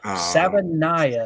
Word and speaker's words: Savaiinaea: Savaiinaea, I think is how you say it.